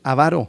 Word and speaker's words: avaro: Y despés, ¿dónde va el acento? Ahí es avaro la palabra siempre quiero decir ávaro. No, no, no. Sí, la esdrújula. Varo sería a tres tres sílabas.